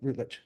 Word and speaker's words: Routledge: Did I pronounce that right? Routledge.